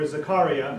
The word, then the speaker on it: Zakaria: televised exchange between journalist fareed zakariya or zakaria as is pronounced on cnn and neuroscientist